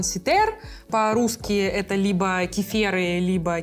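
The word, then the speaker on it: Cythère: это название потому что на французском это жардан ситер по-русски это либо кифе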